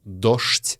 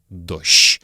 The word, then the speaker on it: дождь: Не дождь, а дождь. Не дожди, а дожди. Это старомосковское произношение, которое было популярно в начале и середине 20 века.